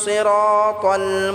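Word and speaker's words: صِرَاطَ: ইহদিনাস, সিরা, সোয়াদটাকে আমরা ভালো করে মোটা করে উচ্চারণ করতে হবে। সিরা বললে হবে না। সিরা, রটা আমরা এক আলিফ টেনে পড়ব। তল, তাল বললে হবে না, তল।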